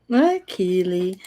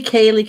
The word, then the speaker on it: Keely: Keely. Keely, Kaylee, Cooley, Kiwi. Kiwi. Call me what you want, it's fine. I've had that all my life. People always pronouncing my name wrong.